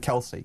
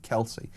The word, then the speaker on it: Kelce: How do you pronounce? Yes, Kelsey. Kelsey.